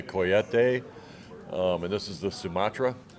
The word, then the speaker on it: Cohete: It's spelled Cohetes. So, like Americans, we would call it Cohete, but it's actually a Coyete.